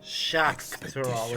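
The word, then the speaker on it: Xak Tural: the time before the Shak tural shakal is how they pronounce that so they pronounce X's as a sh sound that's good to know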